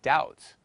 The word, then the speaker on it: doubt: silent as in psychology the letter B is pronounced a book as in boy and silent as in doubt the letter A is